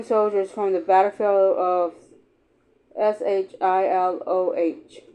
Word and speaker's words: Shiloh: Visitors have alleged heard the screams and moans of dying soldiers from the battlefield of S H I L O H Sil Shiloh.